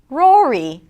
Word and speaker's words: Rory: Rory.